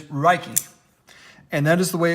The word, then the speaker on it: Ruike: that you spell Huck the only way that this is has a similarity with rake is that it starts with the R sound it is rikey and that is the